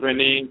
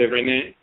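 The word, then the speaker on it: Renen: It's Renin, so it's R-E-N-E-N. That's the name of the male divinity of the name, R-E-N-E-N. Okay. Pronounced Renin. Sometimes people say Renin.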